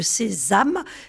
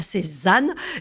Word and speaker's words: Sezame: que vous êtes cofondateur de sésam et non pas sésan et et sésam ça s'écrit s e Z a M e merci arien et je